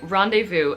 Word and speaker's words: rendezvous: of hard I want to say the French pronunciation but anyway rendezvous as we say in English in modern French